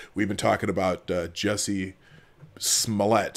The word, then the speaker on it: Smollett: to the show we've been talking about Jesse Smollett Smollett that's how you say his name so I'm